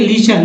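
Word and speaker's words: listen: फिर देखिए लीशन, लीशन में टी साइलेंट होता है, यानी सुनना।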